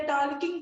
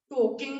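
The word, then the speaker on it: talking: हैं, वॉकिंग करते करते टालकिंग करेंगे। मैं बोला वॉकिंग नहीं वॉकिंग होता है, टालकिंग नहीं टॉकिंग होता है। इसमें एल साइलेंट होता है।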